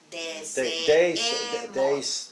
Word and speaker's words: deseemos: Deseemos. Deseemos. Deseemos. Deseemos. Both, there are two E's in there. Yeah. So you pronounce two, yeah. The two. You never say E.